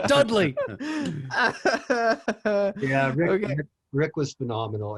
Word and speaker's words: Dudley: Sound it out. It's Dudley.